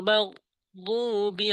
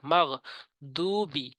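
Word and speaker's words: ٱلْمَغْضُوبِ: সিরাতাল্লাযীনা আনআমতা আলাইহিম, সিরাতাল্লাযীনা আনআমতা আলাইহিম গায়রিল মাগদুবি আলাইহিম ওয়ালা ضالين। গয়রিল মাগ, গয়নের উচ্চারণ করতে হবে হলকের শেষ থেকে। মাগ দুবি, দু টানতে হবে। মাগ দুবি বলা যাবে না, বললে নামাজ হবে না।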